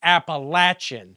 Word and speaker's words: Appalachian: Betty doesn't even sleep with his blood relatives like those of us who know it's pronounced Appalachin.